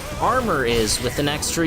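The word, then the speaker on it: Armour Games: so unnecessary it's it's our mower but it's pronounced armor hey what you know and so I developed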